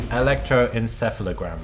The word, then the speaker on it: Electroencephalogram: How do you even pronounce that word? Tell me. Electroencephalogram.